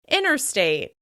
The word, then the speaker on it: interstate: It's very common to say these two words as "innersection, innersection" or "innerstate, innerstate." "Interactive" may become "inneractive, inneractive." This word has several different pronunciations, including "interesting," "intresting," and "inneresting" with that flap /t/: "interesting," "intresting," and "inneresting."